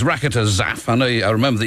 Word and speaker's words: Rakotozafy: program will know exactly what that is it's raketa zap I know I remember that you don't pronounce the why at the end of it